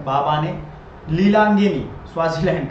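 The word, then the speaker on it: Mbabane: ही हो जाएगा Swaziland बवाने पढोगे am silent बाने लीला अंगनी स्वाजीलैंड का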